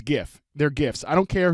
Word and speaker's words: GIF: way the people in the chatter saying it's pronounced jiff it's gif they're gifts I don't care who says otherwise